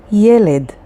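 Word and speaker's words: ילד: Next word, yeled. Yeled is a boy, and it is spelled with yod, lamed, and daled, yeled.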